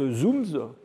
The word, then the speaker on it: ZooMS: traduit ça par un joli petit acronyme qu'on a qu'on qu'on prononce zooms hein et donc voilà